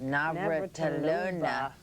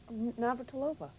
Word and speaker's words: Navratilova: magazine, up there with Martina, say that last, Navratilova. You said it wrong. Navratilova.